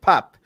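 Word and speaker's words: Pape: compatriots name correctly please it's pronounced Pap take the E out and shove it respectfully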